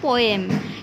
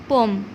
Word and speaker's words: poem: পোয়েম, কিন্তু এটা পোয়েম হবে না, কি হবে? পোম।